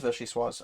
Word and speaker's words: Vichyssoise: Pronunciation. No, I don't want the recipe. I don't fucking care. Vichyssoise. It is Vichyssoise.